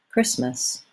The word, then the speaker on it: Christmas: The word Christmas has stress on the first syllable. It should be long and the second syllable should be short. Christmas.